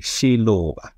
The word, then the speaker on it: Xiluva: I say it correctly no it's a Shiloh and what does it